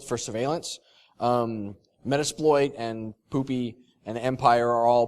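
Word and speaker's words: Pupy: actually asked the dev it's pronounced poopy but it's p-u-p-y I guess is the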